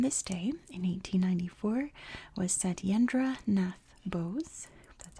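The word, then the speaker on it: Satyendra Nath Bose: coins born on this day in 1894 was said yendra Nath Bose that's how you say it mathematician and physicist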